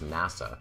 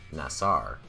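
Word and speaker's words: נשא: this is not correct the Hebrew word that we pronounce is NASA or more correctly nasar is a primitive verb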